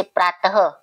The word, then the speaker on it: प्रातः: विसर्ग ध्वनि का उच्चारण ह के समान है। ये जो लगते हैं ना, इन्हें हम ह की साउंड देते हैं। जैसे प्रातः, अतः, पीछे कौन सी साउंड आ रही है, ह का उच्चारण आ रहा है, ह की आवाज आ रही है।